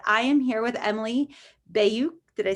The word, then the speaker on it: Bayuk: We were just talking about this, but I am here with Emily Bayuk.